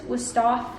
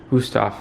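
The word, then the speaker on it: Wüsthof: Wusthof? Wusthof. Wusthof.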